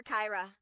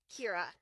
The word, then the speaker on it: Kira: I heard a lot of people call her Kyra, but just like Kirsten, it's Kira.